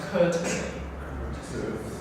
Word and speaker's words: courtesy: I think it's pronounced courtesy. Courtesy.